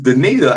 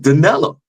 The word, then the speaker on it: Denita: a mispronouncing her name her name is Denita I said danella crazy anyway and I